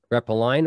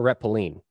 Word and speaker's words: retpoline: return and trampoline and it can be pronounced two different ways rep a line or reppillin rep a line because the last four letters are line um and reppilling because the it actually stands for return and trampoline so trampoline lean